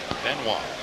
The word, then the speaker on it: Benoit: Benoit. That's the way David wants it, so that's the way we'll pronounce it. Benoit.